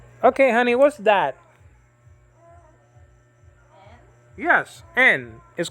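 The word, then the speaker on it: νι: honey what's that yes n is called nu in greek nowadays it's called ni there's different ways to pronounce greek you know the old way we knew nowadays is knee like my bad knee like that you understand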